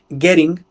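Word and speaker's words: Göring: estos hermanos Fueron contratados por gering goering se escribe goering era el número tres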